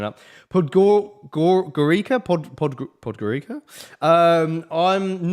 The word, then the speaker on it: Podgorica: from uh podgor i'm going to bollocks this pronunciation up gurika podgorica um i'm not as high on anc alive